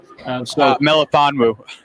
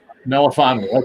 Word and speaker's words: Melifonwu: You pronounce his last name, Alec. Melifonwu. Melifonwu.